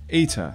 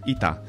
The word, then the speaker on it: eta: going to talk about the letter ETA as it's called in English or ITA in modern Greek now to truly appreciate